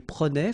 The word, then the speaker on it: prenait: Je prenais, tu prenais, il prenait, final T not pronounced, so the same form, okay?